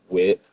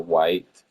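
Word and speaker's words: Wight: Mine happens to be the Wandering Wit or White, depending on how you want to pronounce it.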